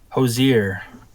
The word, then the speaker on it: Hozier: It's Hozier, apparently, or Hoser. And not like Hoser or something. It's yeah. It's Hozier.